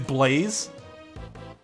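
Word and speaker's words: Blaise: had seen somebody named this is it blaze or like blas it is blaze i mean that's the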